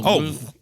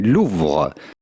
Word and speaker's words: Louvre: Oh, you pronounce the R? Yep. Louvre. No, I always heard it was a silent R.